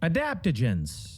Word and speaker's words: Adaptogens: Adaptogens.